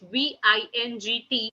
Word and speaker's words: vingt: And 20, last, that is VINGT, which is being pronounced as vin, vin. GT is not pronounced here, okay?